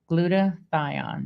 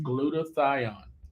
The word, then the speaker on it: glutathione: Pronounce it again. Glutathione. Glutathione.